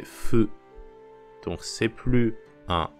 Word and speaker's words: ふ: fou fou en français sauf que la prononciation c'est pas fou c'est feu feu un peu entre